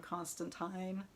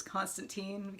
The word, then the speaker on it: Constantine: version of the character is John ConstantINE and the new one is ConstantEEN that's how they say it in the TV shows now.